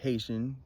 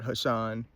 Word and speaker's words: Haitian: And it's pronounced Haitian, not Hashan, not anything else.